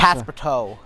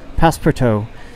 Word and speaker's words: Passepartout: It's a French word. Passepartout. Passepartout, there we go. It's like Passepartout.